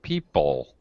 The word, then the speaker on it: people: The second syllable in people is, People. yeah, it's an unstressed syllable, so it's just a schwa sound, a very quick, fast people, social, People.